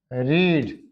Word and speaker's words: read: रीड की देखो, रीड. क्या बोलना है इसको? रीड. Second form same, third form same. इसको क्या बोलेंगे? रेड. रेड.